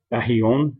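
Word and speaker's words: αἰών: Ahion, as the pronunciation shows it should be said there.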